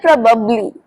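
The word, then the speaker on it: probably: उसका यही बनता है बट इसे बोलते हैं प्रोबेबबली प्रोबेबबली वैसे इंग्लिश में जैसे वर्ड को लिखा जाता है वैसे इसे प्रोनाउंस नहीं किया जाता।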